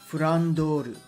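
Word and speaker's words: フランドール: For those unaware, Flandre's original Japanese pronunciation is actually Fandoru and Francesca here, Furan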